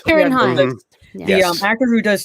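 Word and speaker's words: Ciarán Hinds: I always butcher the pronunciation of this, but is it Kieran? Is it pronounced like a K, a Hines? Kieran Hines. Kieran Hines.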